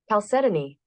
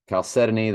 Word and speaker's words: chalcedony: I can't remember chalcedony I'll set an eight chalcedony okay chalcedony the fourth as Emerald v as sardux the